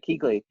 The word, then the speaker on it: Kuechly: star athlete again Luke Kuechly I can never pronounce their name right he's he's like Kuechly yeah I got Keighley thank you his career and it's so short